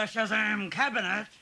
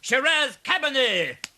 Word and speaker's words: Shiraz Cabernet: The Shazam cabinet. Is he trying to do some magic? You fool, Roger! It's pronounced Shiraz Cabernet.